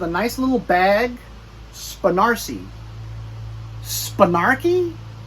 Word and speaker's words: Spanarci: Spanarchy? Spanarci. You know why? Because if you covered this up, and if it was like Marcy, you know, the girl's name, Marcy, it would be Marcy.